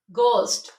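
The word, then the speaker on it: ghost: start हो रहा हो गोस्ट अब इनमें एच साइलेंट है ठीक है जब भी जीएच से कोई वर्ड स्टार्ट होगा तो उनमें एच साइलेंट काउंट होता है गोस्ट गेटो गोस्ट गेटो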